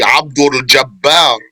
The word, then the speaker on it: Abd: maybe that basketball player K ABD that's how you say it properly ABD slave of aljabar Allah